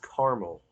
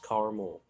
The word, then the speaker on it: caramel: simple math um how do you pronounce caramel two cereal syllables caramel with three syllables caramel blah blah it's called caramel i don't it's freaking caramel um what do you